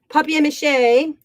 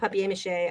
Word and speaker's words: papier-mâché: So we have papier-mâché. And I like to call it papier-mâché. I don't know why. I think that's probably a more correct pronunciation than papier-mâché, because it's P-A-P-I-E-R.